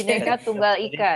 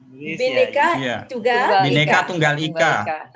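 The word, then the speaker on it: Bhinneka Tunggal Ika: Bineka Tunggal Ika ya. Bineka Tunggal Ika.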